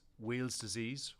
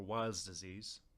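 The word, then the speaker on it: Weil's disease: the site Safety Office vials disease sometimes pronounced as wheels disease or wires disease is an acute infectious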